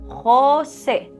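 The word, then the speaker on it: José: J, jota, sounds like ja. For example, Jose, Jose. Double L, elle, or Y, o, y, sounds like ya.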